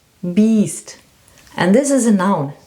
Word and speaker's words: Biest: But if you put an E behind the I, then it's a long one, beast.